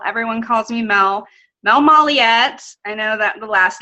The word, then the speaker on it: Molyett: calls me Mel everyone calls me Mel Mel Molly yet I know that the last name is really